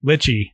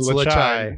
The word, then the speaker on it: Lechai: And so I'm glad you pronounced that, because I look at that and I'm like, lychee. Yeah. And I get lychee. I'll get it right next time I order it. It's Lechai.